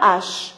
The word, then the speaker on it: hache: devons à devant h vous dites que ce h là elle est aspiré le hibou alors vous